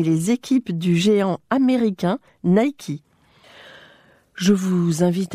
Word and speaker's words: Nike: auditeurs bonjour savez-vous que Nike ou plutôt Nike prononcé à l'américaine vient de livrer son